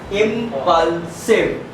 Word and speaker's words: impulsive: एंड हो रहा है, तब यहाँ I का उच्चारण I जैसा होगा और V से बनता हमारा वा, तो बन गया इम्पल्सिव।